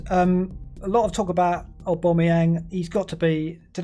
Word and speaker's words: Aubameyang: A lot of talk about Aubameyang. He's got to be. Did I pronounce that correctly? A lot of people saying I'm pronouncing Aubameyang wrong. That was right. That was it. Yeah, Aubameyang.